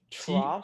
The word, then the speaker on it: trois: Trois. Troughs. And now let me tell you, the S at the end of any word in French is silent. Okay. So you wouldn't say trois, you would say trois.